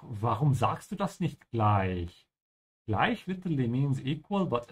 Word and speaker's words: gleich: Also, make sure to keep your mouth open when you say the ich here, gleich. Check out my short videos on my channel to see how to pronounce it properly, gleich, yeah?